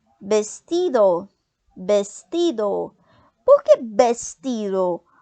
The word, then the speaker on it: vestido: Também podemos falar uma outra palavra que é parecido com o português é o vestido. Vestido. Por que vestido? Porque o V no espanhol ele tem som de B, né?